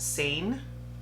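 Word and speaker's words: Seine: what shade I have s-e-i-n-e I want to say that's pronounced sane but that is my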